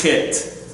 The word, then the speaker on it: Chet: Now, we spell it CH, but it is Chet. Okay? The reason why it's spelled with a CH is because over here you have a Kaf. Over here, you have a kuf, and they all have those same similar sounds, okay?